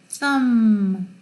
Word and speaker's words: thumb: 그 다음 B가 사일런트일 때가 있어요. 언제? 문장의 뒤에 올 때 climb, comb, thumb, bum 이거 없어요. climb 이거 있으나 없으나 마찬가지예요. 발음이 climb, comb, the come 할 때 그렇잖아요. 근데 그때 come이라고 안 하고 여기서는 comb이라고 발음되죠.